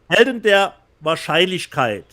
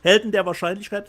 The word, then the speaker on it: Helden der Wahrscheinlichkeit: Helden der Wahrscheinlichkeit. Rob, please translate. Helden der Wahrscheinlichkeit.